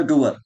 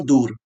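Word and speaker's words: dour: देखो डूअर, लेकिन आपको बोलना है दूर। आपके मालूम में से स्पेलिंग में आएगा, तो डाउर दूर, दूर ऐसे याद कर लेना। ठीक है। इसको ये साउंड करेगा दूर, दूर।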